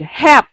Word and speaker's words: help: Don't forget the L there so that it will not sound like this one like when you shout help he help.